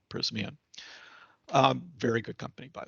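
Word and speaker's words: Prysmian: pronounce this is pr price me in just just kidding prisman um very good company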